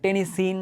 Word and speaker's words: টেনেসিন: একটা মনে হয় এরকম যাই হোক ওইখানে বাট টেনিসিন বা টেনি সাইন এভাবে বলে এ উচ্চারণটা এখন যদি দেখি যে এইটার পিওরলি রিসার্চ